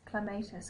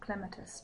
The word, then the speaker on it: clematis: So the first flower is clematis or clematis, depending on how you want to pronounce it.